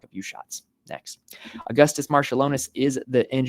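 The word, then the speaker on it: Marčiulionis: So Marshallonis is how I've been told to pronounce it.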